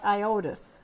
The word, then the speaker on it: iodous: And again, we call it iodous. Again, putting the accent on a different syllable. It sounds different, right?